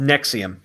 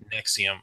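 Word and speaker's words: NXIVM: alleged cult in XIV M stands accused it's pronounced nexium nexium okay nexium stands accused of keeping numerous women as slaves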